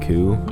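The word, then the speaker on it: 九: free from suffering, because in Japanese 9 is pronounced ku, which is suffering, and 4 is pronounced shi, which is death.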